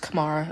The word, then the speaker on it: Kamara: Hi, sorry, my name's pronounced Kamara. A lot of people get it wrong.